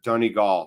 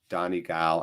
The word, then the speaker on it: Donegal: here force looking better donegal sorry i know i'm saying it wrong i'm sorry tony gall my bad donnie gal i know donigal okay thank you thank you donnie gall tony goal my bad